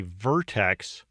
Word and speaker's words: vertex: this is called a Vertex or a node the proper way to say it is vertex but you'll hear the